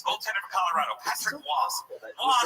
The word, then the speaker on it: Roy: the most beautiful names the world will really pronounce. Goaltender for Colorado, Patrick Waugh.